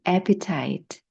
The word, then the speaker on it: appetite: 그다음 식욕은 appetite. Appetite. 앞에 강세가 있습니다.